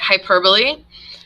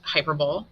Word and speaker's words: hyperbole: that's not personification they're already people all right hyperbole not pronounced hyperbole hyperbole is an exaggerated statement or a claim that's